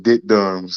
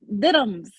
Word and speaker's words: diddums: I don't like saying your name, Dick Dums. Like what the fuck, It's diddums, like Diddums. diddums.